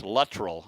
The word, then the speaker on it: Luttrell: He always says it's everybody gets his name pronounced incorrectly. It's Luttrell.